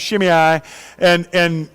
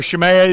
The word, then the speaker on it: Shimei: The next one is a guy named Shimei, or Shimei. It depends on how you pronounce it.